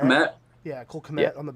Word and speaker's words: Kmet: Cole Kmet. Kmet?